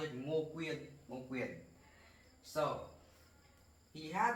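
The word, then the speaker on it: Ngô Quyền: In Vietnamese, we pronounce it Ngo Quyen, Ngo Quyen.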